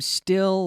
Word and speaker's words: still: I want to focus on the pronunciation of this word, still. Still, because again, like so many words that begin with the S consonant sound, there's no E.